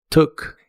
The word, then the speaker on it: took: La doble o se pronuncia como una u corta y explosiva. Tok. Took.